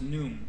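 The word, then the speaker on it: Khnum: that I have here is pronounced n or num his title is guardian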